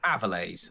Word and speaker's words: Avilés: It's pronounced Avilés. I think it's Avilés.